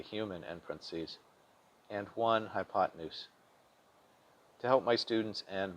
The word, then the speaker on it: hypotenuse: easier to spell but make sure to pronounce it fluidly as in hypotenuse the legs are always